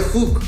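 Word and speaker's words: חוג: En hebreo, la palabra que ahí dice círculo se pronuncia hook como jugo sin la o. Hook en hebreo.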